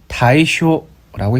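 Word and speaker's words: 大暑: 태양이 환경 120도에 위치하고 있고 大暑 다이쇼라고 있습니다.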